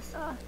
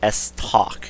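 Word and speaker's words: estoc: I like the SOC. S-Talk, excuse me. S-Talk, sorry. Yeah, I said it wrong too.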